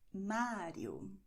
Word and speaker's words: Mário: Okay, so you're going to say in Portuguese, Marcos, Mário, Murilo, André. Okay, this is how it works. Just like this. Okay, so tip of the tongue, quick and back.